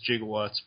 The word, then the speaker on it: gigawatt: was being named and they they're wondering if it was supposed to be pronounced gigawatt but at the time it was jigawatts you know they changed it over time and like right after the film was turned to gigawatts and they fill stupid